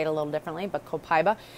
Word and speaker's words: Copaiba: I'm going to spell it for you. It's Copaiba. Copaiba. Okay, some people say it a little differently, but Copaiba.